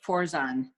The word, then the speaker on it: Fourzan: You pronounce it Fourzan. Like the number Fourzan.